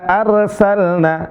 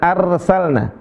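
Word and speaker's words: أرسلنا: Ketika ro sukun sebelumnya adalah berharakat fathah yaitu hamzah maka dibaca tebal rnya. Bagaimana pengucapan ro yang tebal atau ro yang tafhim? Ar ya. Cara bacanya gimana? Ar bukan ar. Inna arsalna. Bukan arsalna. Tapi yang benar apa? Arsalna.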